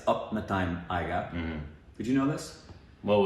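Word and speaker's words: Apna Time Aayega: Well, it was like not Ranveer, and it wasn't Apna-time Aiga, it's Upna-time Aiga. Did you know this? Well, we're also pronouncing, I don't know if you've seen the recent videos, but we're pronouncing Punjabi wrong.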